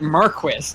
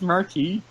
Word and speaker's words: marquis: the word marquis is said a lot, but they pronounce it marquis every single time. Did nobody tell them that it's marquis?